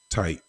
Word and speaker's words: Tyte: It's still pronounced tight, like tight jeans or whatever.